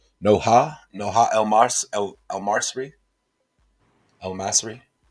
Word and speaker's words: Noha: Prince said, pronounce the H in Noha. Noha? Noha?